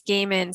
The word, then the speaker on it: Gehman: on instagram yeah and i want to say it's gay men spelled g-e-h-m-a-n yes yes thank you